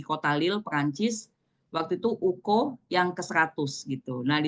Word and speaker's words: UK: Dan tahun ini kita eh kongres and Speranto Universal atau kita sebutnya Uko ya. Uko itu U sama K gitu ya. K K K itu kan dibacanya KO kalau di bahasa Esperanto ya penyebutannya.